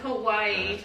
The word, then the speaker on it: Kauai: Is it Kauai? Is that how you say it? Yeah. Kauai. Yeah, coming up in May.